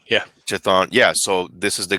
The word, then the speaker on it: Chthon: And one of these gods, who I can't pronounce, Chthon, is that how you say it? Chthon, yeah. Chthon, yeah.